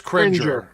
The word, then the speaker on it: Cringer: No, it's Cringer.